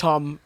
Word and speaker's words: Thom: I say Th. It's Tom. It's obviously Tom.